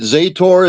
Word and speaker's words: Zator: Is it Zator? Is it Matthew Zator? Is that how you say it? Yeah, it's that's one way. There's a few different ones, but yeah.